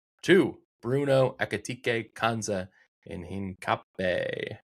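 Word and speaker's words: Hincapié: He's about to do Bumo, Welbeck, Celiba, and Theo to Bruno Akatik Kza in Hin Cape. Hin cape. Yeah, that's how you pronounce it.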